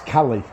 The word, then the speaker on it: Caley: lot of things online about these Kelly ions pronouncing it correctly I know this is a very sort of focal point it's Cali because as I've been told by a Scottish